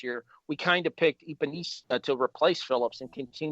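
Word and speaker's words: Epenesa: I'm actually okay with it here because our second round pick, AJ, and I'm going to butcher the last name here, but I'm going to try it. Epinesa? Yep, Epinesa.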